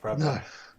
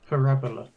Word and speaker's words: parabola: No. It's parabola. Parabola. It's not para. It's just grated. Yeah. I don't think you are alone in being grated there, farmers. He's got the emphasis on the wrong syllable.